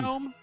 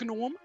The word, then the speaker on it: Gnom: In German would be pronounced gnome. Gnome. Gnome. Oh, please tell. I wish it were gnome. No, not gnome. Gnomish. What gnome? Gnome. Gnome. It's one gnome. Gnome. Gnome. Da-da-da-da. But yeah. Da-da-gnome. Not Da-da-da-da. gnome. Like the Da-da-gnome. G is not silent. Da-da-gnome. We don't really do Da-da-da-da. silent letters in German, I guess.